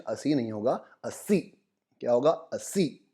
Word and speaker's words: así: Pronunciation अस्सी नहीं होगा, अस्सी। क्या होगा? अस्सी। आई के ऊपर ज़्यादा स्ट्रेस देंगे, तो आपको भी साथ में बोलना है अस्सी।